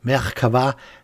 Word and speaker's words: Merkava: Speedbild-Zeit ist Faktenzeit und natürlich sprechen wir heute über den Merkava. So heißt der Panzer nämlich richtig, so wird er originär ausgesprochen.